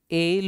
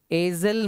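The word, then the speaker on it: aisle: सही answer A आई अब इसका प्रोनंसिएशन एल होता है एल इसमें एस जो है ना वो साइलेंट रहता है इसको एजल मत पढ़िए एल हो जाता और एल का मतलब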